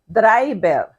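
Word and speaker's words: drayber: spanish or english but spelled in the way we pronounce it in filipino so we say draibel or we say um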